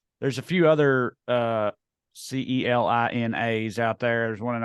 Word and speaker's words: Celina: of the uh there's a few other uh c-e-l-i-n-as out there there's one in Ohio there's one in Texas there's one in Kansas that spelled differently and I think they all pronounce it Selena but we uh for you know whatever reason